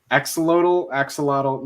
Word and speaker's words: axolotl: Well, axolotl. You'll hear people pronounce it differently. It's one of those things where it's like AT-AT or AT-AT. It's personal preference.